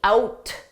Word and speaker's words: out: When I say out, I'm not going to pronounce that T out, out. The T is just silent.